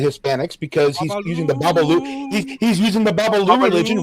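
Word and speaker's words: Babalú: the club Tropicana, and he'll be singing Babaloo. See, we even know how to pronounce it correctly, unlike Michael B. Jordan.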